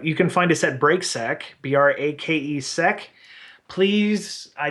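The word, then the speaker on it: Brake: my last name is spelled b r a k e like break like on a car so you misspelled your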